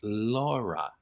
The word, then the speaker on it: Laura: It when taken as just orally, when you hear it, of course, though, it is pronounced Laura.